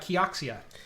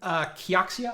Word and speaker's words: Kioxia: So have you ever heard of Kioxia?